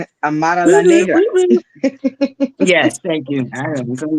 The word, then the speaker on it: Amara La Negra: Amara La Negra.